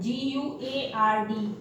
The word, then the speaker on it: guard: Now next word is silent U. This is called G-U-A-R-D.